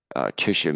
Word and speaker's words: Tisha: Tisha means 9, and it rhymes with tikvah, meaning hope.